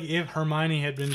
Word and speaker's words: Hermione: like next month yeah I remember trying to pronounce all those names my first started reading like her mayan valle de mer can't laugh I when my